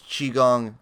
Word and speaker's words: Qigong: we love it sparkle you're probably reading it with the Q but yeah it's Qigong and it's uh it's